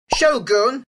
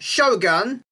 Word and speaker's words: shogun: This should be Shogun, not Shogun.